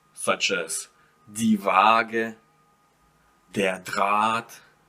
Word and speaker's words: Draht: So you might have words such as die Waage, der Draht. See, I don't pronounce ha, I just prolong the a here.